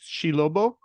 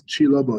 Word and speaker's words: Chi Lobo: Shilobo? Close. Hey, I appreciate the effort. Yeah, it's Chi Lobo. Yeah, you said it pretty much well.